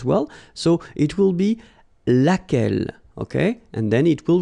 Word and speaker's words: lequel: remember lai lai okay so it goes like lequel all right and then the feminine form so